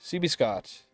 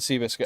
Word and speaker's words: CB Scott: CB Scott. But people do be pronouncing it Seabiscuit. Okay, so you pronounce it CB Scott. CB Scott. But people say Seabiscuit.